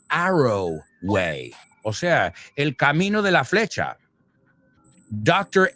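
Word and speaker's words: Arroway: Dr. Arrowway, not Halloway like Virginia Wolf's novel, which we were celebrating today, the publishing of. No, this is Arrowway.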